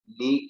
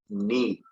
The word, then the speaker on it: knee: Okay, तो students अभी हम लोग पढ़ रहे थे कौन सी स्पेलिंग, नी की, KNEE, नी।